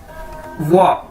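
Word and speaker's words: 我: ठीक है, WO Chinese का वर्ड है और इसकी प्रोनाउंसिएशन है वाह। तो अगर आप ये वाह आपने किस तरह से बोलना है, जिस तरह से आप बोलते हैं वाओ, आप कहते हैं ना वाओ, तो इसी तरह आपने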